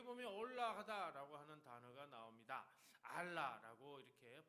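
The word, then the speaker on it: עָלָה: 알라라고 이렇게 발음하는데요.이 말은 단순히 장소를 옮겨간다는 뜻이 아니라 아래에서 위로 올라간다.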